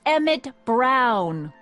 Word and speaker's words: Emmett Brown: bill to a tee that's Emmett Brown rhymes with clown which I'm beginning to